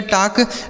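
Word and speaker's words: talk: यहां पर जो एल लिखा है यह साइलेंट है। इसे पढ़ेंगे टाक।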